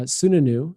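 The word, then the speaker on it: Sununu: the the governor of New Hampshire Chris uh sunanu I believe I pronounced his his name correctly uh said Wednesday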